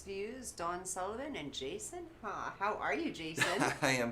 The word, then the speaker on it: Hawe: How do you spell it? Hawe. Hawe. Okay. I think I And have it's a not hard. how. It's not Howie or it's- Hawi.